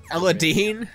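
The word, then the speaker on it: Aladdin: trying to switch right now all right Aladin Ella Dean that's actually how it's pronounced really Aladin really yeah Wow ah I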